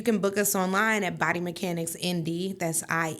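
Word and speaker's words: Body Mechanics INDY: And I only spell it because, you know, I got that little accent and it sounds like I'm saying M D sometimes, but it's I N D Y.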